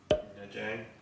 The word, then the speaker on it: Nha Trang: Nha Trang.